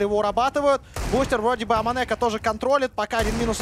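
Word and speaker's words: AmaNEk: Аманек, как нам сказали, К читается в французском языке в конце, так что это Аманек.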